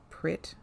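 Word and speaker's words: Prytt: and the Priet are Prit. Yeah, it's spelt with a Y, but it's a short vowel. It's like a short I.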